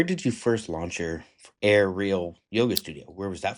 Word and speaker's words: AIReal: Yeah, it's when I created the brand name the the play was on it was yoga in the air but really yoga and so that's why it was a real yoga.